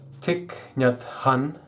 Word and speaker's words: Thich Nhat Hanh: His name is Thich Nhat Hanh, that is how you pronounce it.